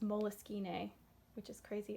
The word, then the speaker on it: Moleskine: really have a planner but i had this moleskine actually it's pronounced moleskine which is crazy it's a name someone's name